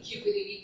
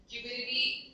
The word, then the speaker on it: Cupidity: So, and Cupidity also rhymes with stupidity, and it actually means the human behavioral foibles you commit when you fall in love.